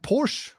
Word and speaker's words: Porsche: So BMW we're pronouncing wrong, like Porsche we're pronouncing wrong.